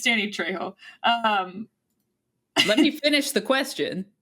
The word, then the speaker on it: Trejo: It's Danny Trejo. Let me finish the question, because it's perplexing. Danny DeVito or Danny Trejo play you in a movie? So there's no fucking way, man. Danny Trejo is he's Uncle Machete from Spy Kids.